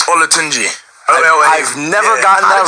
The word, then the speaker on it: Olatunji: It's DEJI Olanjaji. Your last name, DEJI? It's Olatunji.